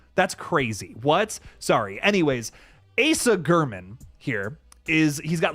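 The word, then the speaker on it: Asa Germann: Asa German. Like you're looking at that name and you're telling me it's not Assa Germon. Fuck you. That's crazy. What? Sorry. Anyways, Asa German here is he's got like a bloody hand.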